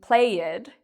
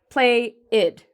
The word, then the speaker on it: played: So what I can do to stop saying played is I can actually take my finger and just do it in one smooth, continuous pronunciation. Played, played. Okay, so this is different from saying it as play-id. Instead, we're linking it all together into one syllable.